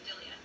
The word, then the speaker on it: Delia: Yeah, well, I pronounce the E like an I, so Delia.